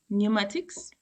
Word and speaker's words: pneumatics: It is silent before n s and t as in pneumatics as in thumbs or sam as in sh as in that Numa Numa International Ministries.